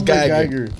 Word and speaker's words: Guyger: It's Geiger. Geiger? Ah, shit. I ain't gonna say that. Yeah, you tried to. I ain't gonna let you pick it up. Botham Jean. Wait, what's the name? Amber what? Geiger.